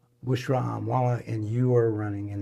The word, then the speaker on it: Bushra Amiwala: Take and Bushra, how do you say your name so I don't want to mispronounce it again? Bushra Amiwala. Bushra Amwala.